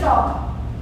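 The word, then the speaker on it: talk: इनको वावल जरूरी होता है, कभी कभी होता है ये, कभी कभी हम बोलते हैं जैसे टॉक, टॉक में एल साइलेंट होता है ना।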